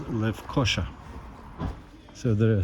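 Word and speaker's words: Lefkoşa: It is really Esh, not S, so Lefkosa, but the stress is on O, so Lefkosa. So the city I'm in, now I know it, is called Lefkosa.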